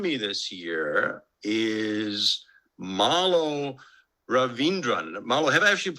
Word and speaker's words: Raveendran: The person who joined me this year is Marlo Raveendran. Marlo, have I actually pronounced your last name correctly?